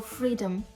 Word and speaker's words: freedom: Table table freedom. Так само наголос на перший на перший склад. Freedom. Freedom. Не freedom. Не freedom. Freedom.